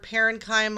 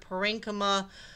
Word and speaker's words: parenchyma: Now, I've also heard them pronounced, I've heard parenchyma, I've heard parenchyma. Take your pick.